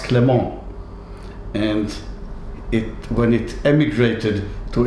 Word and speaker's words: Clément: It comes from the French word Clement, which is pronounced Clément.